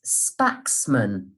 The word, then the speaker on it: Spaxman: It's a family name, and the name is Spaxman.